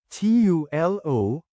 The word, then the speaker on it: tulo: TULO is number 3 in Bicol. Change U to OH and O to UH, then pronounce it as Tulo.